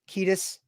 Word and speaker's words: Kiedis: Anthony all right so we go with Anthony kaidis final A to Z kedis that's what daf is saying okay at fair I